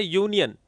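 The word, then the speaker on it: union: तो इसको हम अनियन नहीं पढ़ते। क्या पढ़ते हैं? यूनियन। तो यूनियन पढ़ते हैं।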